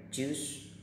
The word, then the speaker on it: choose: Perhatikan bahwa dalam bahasa Inggris kalau O-nya double itu bacanya agak panjang ya, choose, biasanya pakai titik 2 kalau di kamus. Kemudian kalau O-nya 1 bacanya lebih singkat, choose, kemudian yang bentuk 3 adalah chosen.